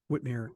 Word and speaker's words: Whitmer: would like to say like said Whitmer from Whitmire whtm it's pronounced a Whitmire uh from Michigan I